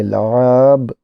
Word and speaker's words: لعاب: ان الفاظ پر اعراب لگا کر درست تلفظ کے ساتھ پڑھیں۔ صدیق، کیا لفظ ہے؟ صدیق۔ لعاب، لام عین الف بے، لعاب۔ بل، تیاری، حیرانی۔ ان ذیل میں خط کشیدہ